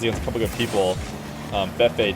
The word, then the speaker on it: Fefe: Fefe did, or Fefe, he says. It's like B, rhymes with BB.